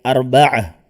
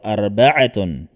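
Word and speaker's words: أربعة: Kung bibigkasin natin arba'atun, kagaya ng thalatha, thalathatun, at dito arba'atun. Pero kapag hindi po natin bibigkasin, kapag may mga salita na nagtatapos sa ta'ul marbuta, at hindi na natin bibigkasin ang patinig na nakalagay sa kanyang dulo, ang ta'ul marbuta ay magiging ha. Magiging ha ang kanyang tunog.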